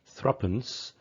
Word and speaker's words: threepence: then a coin worth 3 pence, but normally pronounced threepence, or also threepenny bit, the penny, the halfpenny,